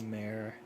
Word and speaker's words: Mayer: Oh my gosh, it's Mayor.